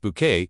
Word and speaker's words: Bucket: However, it was in 1990 that Patricia reached household name status when she was cast as highest bucket pronounced bouquet in the British sitcom keeping up appearances.